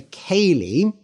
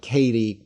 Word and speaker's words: ceilidh: So a ceilidh, Ceilidh, yes, that is how it's spelt, and it's spelt that way because it's a Scottish word. It is a Scots Gaelic word.